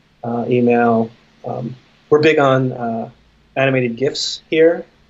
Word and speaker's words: GIF: we're big on animated gifts here it's a gift with a hard G ship we're very big